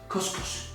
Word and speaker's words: Khus Khus: the taste tester here now G has delivered Costco how do you pronounce that just as I did how do